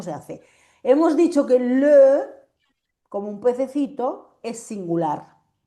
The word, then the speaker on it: les: ¿Cómo leen esto? Les. Bien, Les. bien, pero es simplemente una cosa, que la S final no se pronuncia.